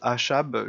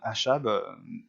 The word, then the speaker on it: Achab: Alors je prononce Achab, je ne sais pas, les Anglais ne prononcent pas Achab, je vais prononcer comme ça s'écrit A-C-H-A-B, en anglais il n'y a pas le C, euh, qui est décrit